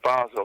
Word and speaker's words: Basel: If you want to say it with an American accent, you could say Basil or if you want to with a European one, you say Basel. Basel.